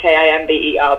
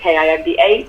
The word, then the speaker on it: Kimba: A lot of people, when they hear Kimba, they just assume it's Kimber, but it's Kimba Digital, and we are that on Instagram, Twitter, Facebook, and on LinkedIn.